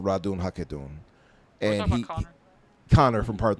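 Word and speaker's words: Ratonhnhaké:ton: Radun Hagedun. That's it. Radun Hagedun.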